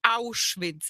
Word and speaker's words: Auschwitz: It's Auschwitz. If you want to say it right.